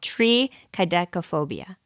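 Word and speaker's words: triskaidekaphobia: it's too late now it's not try it's tree tree tree kobia now that I'm thinking back so I think I said it wrong originally it's called tree kop phobia because I remember thinking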